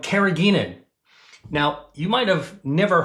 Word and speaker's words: carrageenan: The first thing I want to talk about is something called carrageenan.